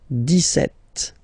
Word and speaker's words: dix-sept: But then for the pronunciation, dix-sept. Okay, so you don't insist on the s.